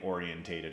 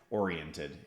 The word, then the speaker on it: oriented: I don't think orientated is the correct way to say that. Sometimes the Brits will say it that way. Oriented is how we'd say that in American English.